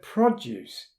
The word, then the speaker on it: produce: all over the world that word produce Accent on the first syllable means fruits and vegetables